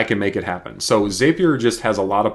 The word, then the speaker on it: Zapier: in too much detail this is called zapier or zapier some people like to call it i've even heard some people call it zapir i don't know exactly how to say it but i call it zapier so inside of zapier